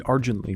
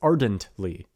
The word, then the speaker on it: ardently: Argently, I say. He argently rows. It's ardently. Ardently. And I didn't really second guess that until it was already up on YouTube, and I'm sitting here listening to it going, Argently? Argently. No, that's not it.